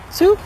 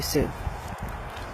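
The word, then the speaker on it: Such: I think it's spelled S-U-C-H when I say Sue.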